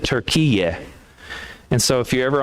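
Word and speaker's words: Türkiye: And they prefer that we don't call their country Turkey, that we pronounce it Turkiye.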